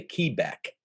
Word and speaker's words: Quebec: And, you know, Q is Quebec, but we say Quebec.